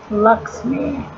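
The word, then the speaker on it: LXMI: this Lex me it's lxm eye but it's pronounced Lux me know what it is it's this is called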